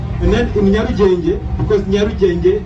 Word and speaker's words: Nyarugenge: And then in Nyarugenge, because Nyarugenge is spelled starting with N, N-Y-A, Nyarugenge.